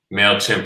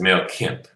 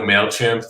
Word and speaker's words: Mailchimp: people that was interviewed mispronounced mailchimp as male kemp oh right and and